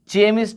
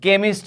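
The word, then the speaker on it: chemist: चेस, केमिस्ट, यहाँ देखिए चेमिस्ट नहीं पढ़ेंगे, सी के बाद एच है लेकिन उसका उच्चारण क के रूप में होगा, तो केमिस्ट हो जाएगा।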